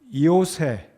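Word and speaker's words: Ἰωσῆς: 그의 이름은 요새, 정확하게 한국 발음으로 이름을 부른다면 요셉이 되겠습니다. 헬라어 발음으로는 이오세, 예수님의 이름도 이예수인 것처럼 이 요새라는 이름은 헬라어 발음으로 이오세인데 그래서 한국 발음으로 옮기면 요셉이 되겠습니다.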